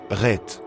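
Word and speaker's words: Het: Huitième lettre, Ret, comme CH. La prononciation, Ret, est comparable à la lettre J en espagnol, comme le mot la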